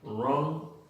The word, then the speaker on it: wrong: WR al principio de palabra, la W es muda, entonces pronunciamos wrong y right.